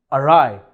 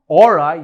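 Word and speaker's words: awry: इसका सही प्रोनाउंसिएशन है अराई, नॉट और आई या औरी। ए डब्ल्यू को आप अ जैसे कहेंगे और आर वाई को राय, अराई।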